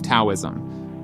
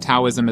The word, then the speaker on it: Taoism: Is it Taoism or Taoism? Well, it turns out both are correct, but they come from two different systems for translating Chinese into English.